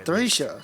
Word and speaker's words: Thracia: Thracia, so that's how you say it.